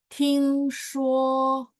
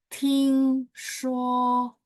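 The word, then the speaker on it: 听说: 再来第 10, 听说, ingat ya, T bacanya TH. 听说, Kang, nada 1 ya, 11 ya.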